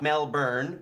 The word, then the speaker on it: Melbourne: Not Melbourne, because it's pronounced Melbourne.